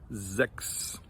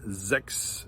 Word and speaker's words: sechs: followed by an S, that sound is actually like a KS or like an X sound. So for instance, we have the number 6 in German, which is pronounced sechs. So words like sechs or Fuchs.